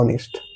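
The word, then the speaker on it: honest: देखिए क्या यहां पर यहां पर दिया हुआ है ऑनेस्ट। ऑनेस्ट का क्या है? उच्चारण देखेंगे तो क्या आ रहा है? ओ तो यहां हो जाएगा एन। अब देखना यहां पर क्या आ रहा है उच्चारण।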